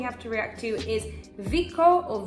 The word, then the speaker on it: Vicco: The next song we have to react to is Vicco or Vicho. Double C in Spanish is pronounced the X sound.